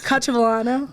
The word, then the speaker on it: Cacciavillano: My name's Cacciavillano. Pause. How do you say that last name? I'm like, pause. Cacciavillano.